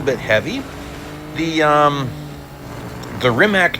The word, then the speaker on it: Rimac: the um the Rimac Nea or Rimat's Nea if you want to say it properly.